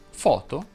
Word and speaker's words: foto: Ebbene, si dice moto, foto e topo, tutte con la O aperta.